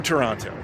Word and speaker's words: Toronto: to Toronto you'll notice I don't pronounce the second T Canadians will get that so I realized we